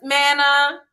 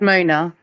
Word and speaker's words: Mona: Hey, Miss Manna. Is that how you say it? Hi, no, Miss Mona.